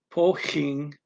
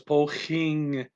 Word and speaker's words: poging: a Dutch G, but that second G after the N, at least in his dialect, they pronounce it NG the same as an English person. So it's poging. You don't go poging. You don't put a little hitch there.